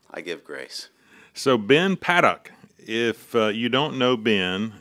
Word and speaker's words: Paddock: And so for many, you know, I just would assume and make the false assumption that it was Paddock. Mm-hmm. But it's Paddock.